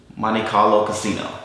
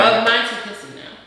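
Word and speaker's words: Montecasino: We did find one at Monte Carlo Casino. Yeah. I forgot the name of it. But anyway. Monte Casino.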